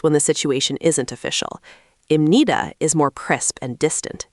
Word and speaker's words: 입니다: The b sound softens.